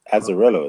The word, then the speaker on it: Azzarello: I think it's Azzarello, isn't it?